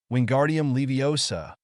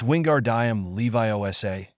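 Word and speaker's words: Wingardium Leviosa: busy bickering Ron chanted wingardium leosa wingardium leosa move you stupid feather Hermione stopped him and lectured stop stop you're saying it wrong it's Wingard Dam Levi Osa make the gar nice and long Harry winced that was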